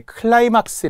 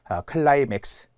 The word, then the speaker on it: 클라이맥스: 이것도 우리가 절정을 나타낼 때 클라이막스 이렇게 많이 하잖아요. 클라이맥스, 최고죠.